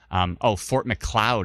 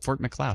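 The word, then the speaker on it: Fort Macleod: Fort McLeod is how it's pronounced. I like that. Fort McLeod.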